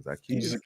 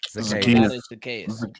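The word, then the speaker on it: Zacchaeus: Zakius. Zakayas.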